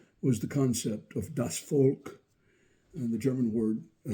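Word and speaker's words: Volk: the concept of das folk and the German word it's pronounced like our English folk and it has admological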